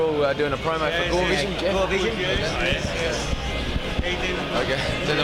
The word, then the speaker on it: Gorevisión: Oh, message for to Gorevisión. Gorevisión, Yes. How do you pronounce it?